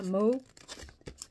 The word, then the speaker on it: Mow: Je pense que ça se prononce comme ça. Mao. M-O-W. Voilà.